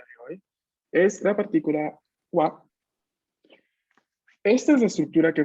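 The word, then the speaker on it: は: Solo que tal cual les comenté, ha, cuando está en función partícula, se pronuncia wa.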